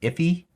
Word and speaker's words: IIFE: It's also just known as an IIFE. Sometimes I think it's pronounced iffy.